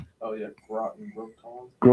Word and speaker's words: Groton: Do mind pronouncing that correctly? Groten. Connecticut. Gr o t o n. It's gonna he's gonna Oh, yeah. Groten. Groton.